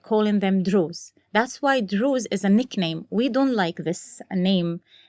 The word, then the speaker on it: Druze: That's why Druze is a nickname. We don't like this name. Yes, you know that That's story? True. Yes. Yeah. This is not, that's why I said it rhymes with Jews, because I know that